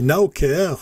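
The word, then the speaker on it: Naocare: prix qui était proposé c'est naoker ça s'écrit Nao comme maintenant en anglais équerre prendre soin ou voilà je trouve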